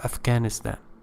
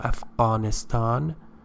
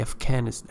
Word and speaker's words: Afghanistan: alphabet or symbol of Afghanistan and you should not say for example I'm from Afghanistan okay because in English we don't have a sound so it it must be Afghanistan Afghanistan so you should just